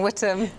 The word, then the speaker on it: Witham: So it's spelt Witham, but it is Witham, Ellie, yeah? It is. It's Witham, yes.